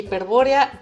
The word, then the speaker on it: Hiperbórea: así no se encuentran recuerden que hiperbórea van con acento en lado entonces para que nos